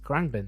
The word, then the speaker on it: Khruangbin: Khruangbin. Yes, Khruangbin Thing.